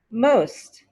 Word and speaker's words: most: almost didn't make it most most she's the most qualified she's the most qualified again you don't hear that t sound she's the most qualified